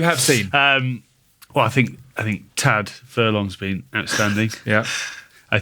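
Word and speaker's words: Tadhg: I think it's Tig. The D, forget about the D.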